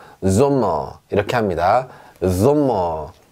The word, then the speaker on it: Sommer: S라고 말을 하지만 실제로 발음은 S가 아니라 지읒 발음이 납니다. 보세요. Sommer, Sommer 이렇게 합니다.